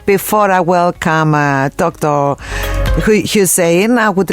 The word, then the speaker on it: Hussein: your listeners as well thank you now Dr husin am I pronouncing your name correctly first of all hin